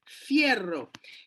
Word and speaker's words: fierro: And then you have F, F sound, fierro.